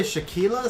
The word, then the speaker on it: Shaquila: Julio, it's actually Shaquila spelled like this. What's up, Shackers? Huh? Hey, baby. Nice, Jason. Oh no, Julio, I understand. It sounds like tequila.